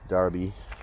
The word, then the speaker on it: Derby: like the town of Derby D RB is pronounced Derby Derby Darby derish sheir is darbishire so you know uh